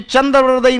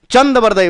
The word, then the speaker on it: चंदबरदई: एक तो कभी चंद्रबरदई नहीं बोलोगे। चंदबरदई बोलोगे और एक मिश्रण नहीं करोगे।